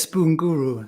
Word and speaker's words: Spoon Guru: Yes, Spoon Guru. That's actually how it's pronounced.